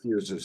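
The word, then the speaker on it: physis: We'll use fuses, even though it's spelled with a Y. That's a more proper pronunciation of the Greek word for nature, the nature that embraces the personality, right?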